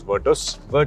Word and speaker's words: Virtus: virtus has provided by the way it is pronounced as virtus that's what I would be like to call